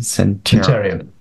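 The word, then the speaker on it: Cinterion: say Blues and Telecentrion, how do you pronounce their last name? Centurion. Yeah, Centurion.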